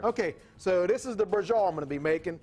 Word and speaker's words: braciole: Braciole. Braciole. Okay, it's not pronounced like it's spelled though. Yeah, a little bit different. B-R-A-C-I-O-L-E. Sounds Italian to me. Yes, it is. Let's so rock.